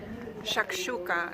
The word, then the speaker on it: shakshuka: And my search for the perfect shakshuka continues. Or shakshuka, apparently it's properly pronounced.